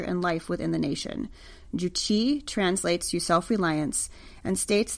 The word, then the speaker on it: Juche: The official state ideology is something called Juche, spelled like juicy, J-U-C-H-E, Juche, and was developed by